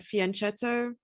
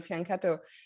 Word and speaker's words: fianchetto: for the longest time i said fianchetto i go to the world juniors in italy and suddenly everyone's shouting at no it's fiance okay so now i'm